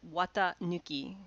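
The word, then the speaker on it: 四月一日: here that i'm highlighting would normally be read as shigatsu itachi april 1st but when they're a family name it's read watanuki which means unpadded clothes because april 1st is the traditional date to switch from some from winter to summer clothes and indeed we have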